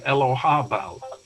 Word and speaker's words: Elagabal: It could be Elohabal. Yeah. With a strong H sound, ha, which they couldn't pronounce in Latin. Yeah. So they transcribed it as a G, but it could be Elohabel. Elagabal is how it's written